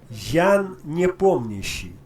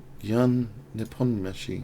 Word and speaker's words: Ян Непомнящий: Ян непомнящий. Ян непомнящий.